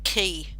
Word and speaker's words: Quay: though it's about q-a-y it's pronounced key it's pronounced key and i'm curious about